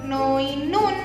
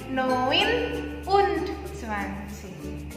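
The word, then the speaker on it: neunundzwanzig: Noin, nah berarti N-nya ke sini, jadi bukan noinun, tapi noin und 20.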